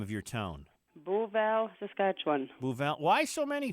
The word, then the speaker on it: Beauval: And we have reached you in, please pronounce the name of your town. Beauval, Saskatchewan.